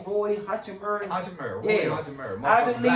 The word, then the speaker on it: Hachimura: Keep, how you say his name, Roy Hachimura?